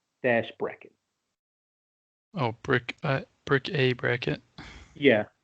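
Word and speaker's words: Bric-a-Bracket: c dash a dash bracket oh brick uh brick a bracket yeah it's uh it's kind of a weird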